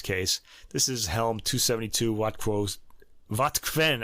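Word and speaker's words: Wotquenne: This is Helm 272 Wattquen. I keep saying Wattquo. I did that in an earlier episode too.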